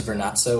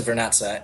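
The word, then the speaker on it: Vernazza: I'm i went to vanassa which is in the cinque terre where is that's so wrong that's rock pronunciation but um I went to vernessa and that's like it's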